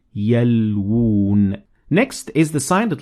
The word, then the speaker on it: يَلْوُونَ: So there is two wows here. One of them is already written, but the other one we have this sign to tell us that it is there. So you would say يَلْوُونَ.